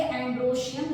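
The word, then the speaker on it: androecium: है एंड्रो शियम okay so pronounce करेंगे एंड्रो शियम ख लिखेंगे एंड्रो एशियम सो एंड्रॉस यानी मेल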